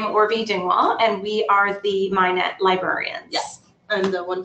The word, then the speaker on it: MHIKNET: and knowledge network um the k is silent so ch and we